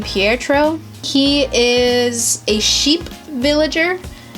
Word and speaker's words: Pietro: my favorite little babies I believe you pronounce his name Pietro he is a sheep